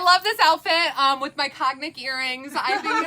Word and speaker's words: Cognac: I think in the Cognac? Cognac? That's how you say that? Cognac. You know, we all learn something every day. I bet a bunch of people say cognac because that's how it's spelled.